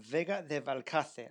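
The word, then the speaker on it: Vega de Valcarce: Um Vega de Valkcate.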